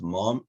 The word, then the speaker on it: mom: means the same but when you abbreviate it to mom in america it's mom mom and in australia it's mum m-u-m uh and i think to